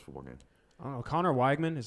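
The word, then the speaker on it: Conner Weigman: feel about this football game I don't know Connor weigman is how you pronounce it Conor Wegman he was impressive in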